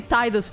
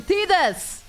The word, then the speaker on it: Tidus: Why do I say Tidus? Goddamn American pronunciation. Tidus! His name is Tidus.